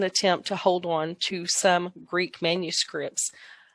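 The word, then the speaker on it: Sawm: Number 4 is the Som. It's pronounced with the long O.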